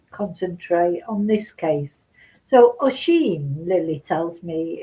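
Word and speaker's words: Oisín: So Oisin, Lily tells me it's pronounced.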